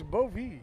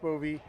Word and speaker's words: Bowie: Actually, it's Bowie. Bowie, yeah. Yeah, it's spelled differently, but it's pronounced Bowie, and she has been fantastic.